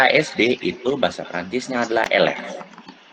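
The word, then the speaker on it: élève: Nah, kalau misalnya siswa PAUD, TK, SD itu bahasa Prancisnya adalah elef. Bacanya elef. Atau mau eleve ble, elef. Yang benar tuh elef. Ini salah aksonnya, désolé. Elef, bacanya elef.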